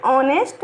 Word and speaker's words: honest: का यूज किए हैं क्योंकि इसका प्रोनाउंसिएशन ऑनेस्ट ओ से स्टार्ट होता है, एच साइलेंट होता है.